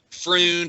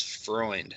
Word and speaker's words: Freund: They usually say Freund or Freund. Only Germans know it's Freund.